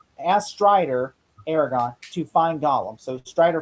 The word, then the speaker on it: Aragorn: Well, it's actually pronounced Aragorn, not Aragorn. I call him Aragon. It's not Aragon.